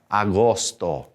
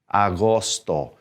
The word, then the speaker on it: agosto: h junior julio julio august take note here august does not have a u okay we have to take that u out agosto agosto so we've got all o's with august and spanish agosto now go ahead and